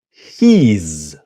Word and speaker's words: he's: your your he is he's so I put the h i I I Z here because he's one syllable not he is but he's listen and repeat he's